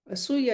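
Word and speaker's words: असूया: Asuya is spelled as A-S-U-Y-A, asuya. And the third one, the Matsarya, is still more destructive and perverse.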